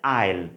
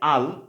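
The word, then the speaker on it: I'll: আইল। উচ্চারণটা কী হবে? আইল। ঠিক আছে, এখানে দেখুন এই যে আমি বাংলাতে মেনশন করেছি আইল। ওকে, এটা হচ্ছে সঠিক। আর এই যে আল, এটা হচ্ছে সঠিক না।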